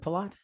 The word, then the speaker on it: Pelot: Is it Pelot? It's close. Pelot. The T is Pelot. silent. The T Yeah. is silent. How would I know that? You wouldn't. Nobody Allison does. Pelot. It's French. Yeah.